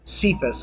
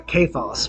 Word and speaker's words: Cephas: But the narrator is someone named Cephas, or Kephas would be the pronunciation of the Greek.